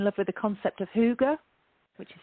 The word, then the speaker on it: hygge: And she'd fallen in love with the concept of hygge, which is spelled hygge, Hygge.